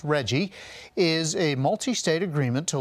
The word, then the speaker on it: RGGI: Governor Glenn Youngkin is pulling Virginia out of the Regional Greenhouse Gas Initiative, RGGI, pronounced REGGIE, is a multi-state agreement to limit carbon emissions and reduce greenhouse gas effects.